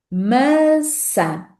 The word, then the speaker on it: maçã: sílaba da palavra má, vamos pronunciar a primeira letra A como A aberto e a segunda letra A como a, o A mais fechado, vamos dizer assim, e não nasal.